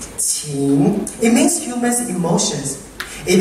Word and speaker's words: 情: Affection in Chinese, which you pronounce qing, it means human emotions.